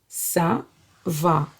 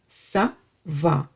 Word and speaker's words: ça va: And whenever you see this C with this tail, you would pronounce it as S.